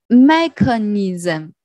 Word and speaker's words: mechanism: the last one is mechanism maker needs a mechanism and the syllable area that the stress is on the first syllable mechanism mechanism mechanism here